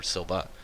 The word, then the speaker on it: Silva: It's like Ashi Silva, not Silver, Silva.